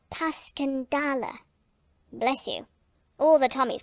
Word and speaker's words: Passchendaele: was so strange to hear you call it passion dale why if i may ask because that's the way i pronounce it to myself but i looked it up and it's more like pascandala bless you all the tommies call it passchendaele